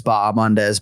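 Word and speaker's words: Bahamondes: gorgeous that silent yeah that H is silent that's the public service announcement for this week for uh ignasio B mandz that H you just kill it it's baam mandz but I always find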